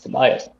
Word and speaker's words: Tobias: Because Jake doesn't have a Norwegian pronunciation. Whereas if Tobias is doing something, that's kind of off-putting because you'd expect that to be Tobias in our pronunciation. Mm-hmm. But it isn't. It's Tobias. Shocking.